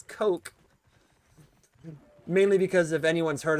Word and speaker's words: Koch: It's supposed to be pronounced as coke.